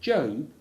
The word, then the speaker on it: Job: spelled j o and pronounced job to rhyme with robe were he to seek